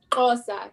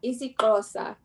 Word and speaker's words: Xhosa: How do you pronounce it? Xhosa. Xhosa.